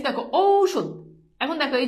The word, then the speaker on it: ঔষধ: ও রস যেমন দেখো ঔষধ এই যে দেখো ঔষধ এখন দেখো এই যে উচ্চারণে ঔ ঔষধ ঔষধ বুঝছো এরপর দেখো অনুস্বর